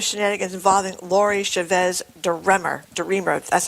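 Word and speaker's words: DeRemer: Darmer, that's how you say it.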